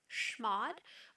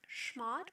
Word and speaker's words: chmod: up needing for example schmod which can be pronounced with either a hard c-h type sound or a soft ch sh type sound i've always heard it pronounced shmod but i know other